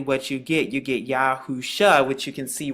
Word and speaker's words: Yahusha: and the ancient again, the five different characters that's written and they all make the exact same sounds, Yausha, and when you put it together, it's Yahusha.